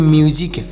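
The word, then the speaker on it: music: क तो इसे पढ़ेंगे म्यूजिक इसे म्यूजिक नहीं पढ़ेंगे यहां पर यस से स नहीं पढ़ेंगे यस से क्या पढ़ा जाएगा ज पढ़ा जाएगा तोसे पढ़ेंगे म्यूजिक और म्यूजिक मतलब होता है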